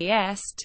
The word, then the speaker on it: EST: The abbreviation EST should be pronounced as separate letters.